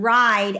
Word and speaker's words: ride: mapping the word ride, I can say R, I, D, and then that E can go here, but then what we do is we cross it out because that E doesn't have a sound.